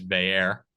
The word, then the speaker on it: Bayer: i i noticed that you changed the pronunciation according to franklin's press conference today the fair instead of a u as everyone else would always stare uh one of our favorite beat writers audrey snyder printed out the uh pronunciation list a couple days ago i got that saved so we know i forgot guys we're going forward so it is bayer so now that came